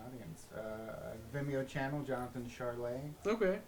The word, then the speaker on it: Chiarle: front of an audience uh Vimeo Channel Jonathan charlay okay c h i a r l e is the last name I spell it pronounce it okay also I have an